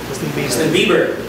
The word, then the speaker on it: Bieber: he is doing now justin bieber how we pronounce his name justin bieber bieber because there's another beaver devier i'm sorry mr